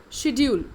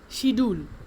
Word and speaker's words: schedule: Schedule. It is not schedule, it is schedule.